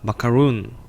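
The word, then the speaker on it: macaroon: 이름은 따로 있었어요 어 그 마카롱 이나 비슷한 발음이 지만 영어를 읽을 때는 어떻게 될까요 마크 로운 되어 있죠 같이 한번 읽어 볼게요 시작 마카 룬 다시 시작 마카 본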